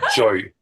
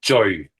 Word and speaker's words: Jui: So, it's Jouy. So, it's Jouy. Jouy. Jouy. Jouy. Yeah, exactly. Jouy. So, it's kind of sounds like joy but with a U.